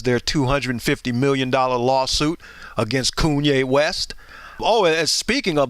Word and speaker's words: Kanye: it is true, because Kanye's claimed that, I mispronounced his name. I said Kanye. I'm sorry. It's Kanye.